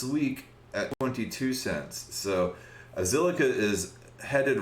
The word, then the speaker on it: Zilliqa: elrond is named after zilliqa is just kind of a random word um that amrit kumar the ceo made up and uh that's what that's kind of rhymes with silica silicone you know computers and